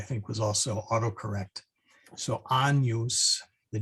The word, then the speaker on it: Agnus Dei: And then the other two fun ones is when you see a GN, like the Agnus Dei, that GN becomes like an NY sound. So as in canyon.